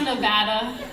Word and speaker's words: Nevada: It's pronounced Nevada.